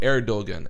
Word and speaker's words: Erdogan: So he's like, why don't you just pronounce it instead of like the ER, pronounce it air. So ErDogan, ErDogan.